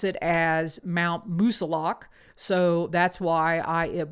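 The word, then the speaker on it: Moosilauke: to note that I used to call it musalaki until I spent some time uh in town with individuals that actually live in New Hampshire and they pronounce it as Mount musilok so that's why I am calling it Mount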